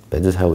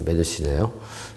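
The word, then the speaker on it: medusae: 메드사라고 읽으면 될 것 같은데, 메드시네요. 라고 읽으래요.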